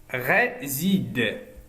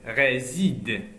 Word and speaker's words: réside: Réside. Et entre deux voyelles, on le prononce Z. Réside.